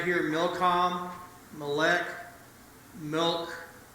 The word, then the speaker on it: Molech: This word right here, Milcom, Molech, milk, the actual way that name is pronounced is Mulk.